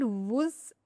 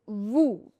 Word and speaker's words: vous: Last letter S is silent. vous It's not vous. It's vous.